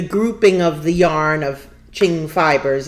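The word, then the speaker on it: Qing: Um, I use Ching Fibers, which is Q I N G in case anybody's wanting to. I always used to thought think it was Quing.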